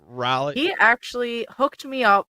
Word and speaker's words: Raleigh: So thanks to my buddy Chase, Riley Retro Gamers, or Raleigh, how they say it there in North Carolina. Raleigh.